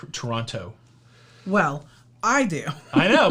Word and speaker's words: Toronto: t i think it's toronto what yeah i don't think you pronounce the t in toronto well i do i